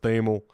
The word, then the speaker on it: Thamel: who who he is thel I think it's pronounced theml college football senior rider